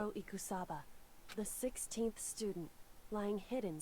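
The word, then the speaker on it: Ikusaba: out there's a 16th student it's called Maruko eCos cassava I think that's what it was anyway let's continue on Oh a smoker oh okay I said it wrong ekoo Sabah the 16th student lying hidden somewhere in this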